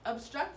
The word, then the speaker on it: obstruct: Okay, obstruct is at the very bottom. And again, we're going to look at which syllable is accented. And we'll notice that it is the second part of the word.